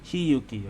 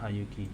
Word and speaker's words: Hiyuki: How do you pronounce it? Hayuki or Hiyuki? It's just the two of us now. No need for all the formality, Hiyuki. Hiyuki, okay, not Hayuki. Hiyuki.